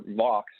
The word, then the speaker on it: Vaux: products and the 97 ideas sort of for box as you pronounce correctly by the way nice our first